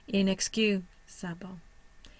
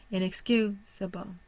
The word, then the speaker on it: inexcusable: we see that combination inexcusable where is my primary stress on the third syllable my secondary stress is on the first and both the f sa a and the BL are both considered schah or unstressed inexcusable inexcusable inexcusable energy is